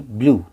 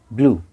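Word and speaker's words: blue: यू ई, यानी कि यू पढ़ा जाएगा और ई शांत रहेगा। यू को हम पढ़ेंगे, यू पहला है, दूसरा शांत रहेगा, साइलेंट रहेगा। ड्यू, डी यू ई, ड्यू। बी एल यू ई, ब्लू, ब्लू।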